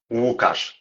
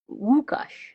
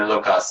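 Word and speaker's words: Łukasz: Wukauash. Wukash. Oh, perfect. Yeah. Okay. So, I wasn't pronouncing right.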